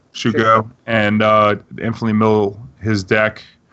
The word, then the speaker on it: Shuko: With the either Vile can Vile in the Illusionist, Stoneforge can get the Suko, or is that how you pronounce it? Suko? Yeah, Shuko.